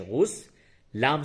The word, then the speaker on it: غسل: بالکل فریش، نیا نیا۔ غسل کا ہجے اس طرح سے کریں گے، غین سین پیش غس، لام ساکین، غسل مانے نہانا۔ اس کے